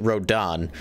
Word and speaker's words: Rodin: Yeah, it's spelled Rodin, but in the game they pronounce it Rodan.